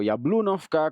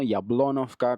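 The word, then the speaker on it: Яблунівка: A veces digo Yablunovka como está escrito en ucraniano, Yablonovka como se pronunciaría en ruso.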